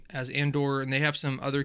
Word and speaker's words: Andor: now I'm like dude it's just Andor I don't care if